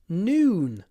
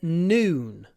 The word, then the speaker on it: noon: Look at my lips. Noon. Noon. Starts open, then closes. Noon.